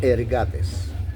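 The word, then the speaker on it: ἐργάτης: Entonces dice que la palabra ah obrero en el griego, esta palabra que se fue traducida obrero se dice se pronuncia ergates. E r g a t e s.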